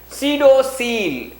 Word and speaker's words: pseudocoel: Such body cavity is said to be pseudocele. How you have to pronounce pseudocele? Here P is silent.